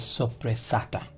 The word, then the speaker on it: Soppressata: The pronunciation of this is Soppressata.